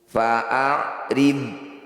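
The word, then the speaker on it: فأعرض: Fa'rid, bod sukun, sekedar mengingatkan bukan bacaan qalqalah, jadi tidak perlu dipantulkan.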